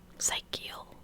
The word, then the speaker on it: psychical: Psychical, yeah, like psychic, psychical.